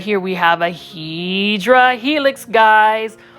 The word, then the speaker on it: Hedera helix: And then right here, we have a Hedera helix, guys, or the correct way to say it is Hedera helix.